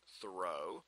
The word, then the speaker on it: Thoreau: traditionally most people say Throw there is some evidence that he pronounced his name thorough uh and there's a